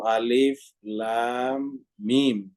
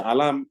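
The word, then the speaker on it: الم: dia Alif Lam Mim Jadi dibacanya satu-satu Alif Lam Mim ya jadi alif lam dan mim jadi tiga huruf di sini huruf alif huruf lam dan huruf mim ya tidak boleh dibaca alam di dalam al-qur'an kata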